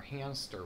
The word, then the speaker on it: hamster: The only thing I can really place anywhere nearby would be this hamster wheel. Or hamster wheel. I'm mispronouncing it, I think. Putting a P in there when there should not be a P.